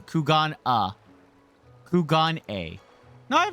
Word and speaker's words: Kugane: No, sorry, not Kugane. Kugan uh Kugan A.